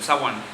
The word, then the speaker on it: Samhain: Se escribe Samhain o Samhain, pero su pronunciación correcta es el Samhain. El Samhain, que su significado es el final del verano.